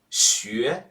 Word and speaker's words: 学: 学, 学. Okay, let's review. Remember, normally letter U is pronounced U in Chinese.